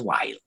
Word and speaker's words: while: Now, in English, the term while, you write with WH, but it's pronounced not in Scots. In Scots, still has the distinction between WH and W, but of course in standard English pronounced as while.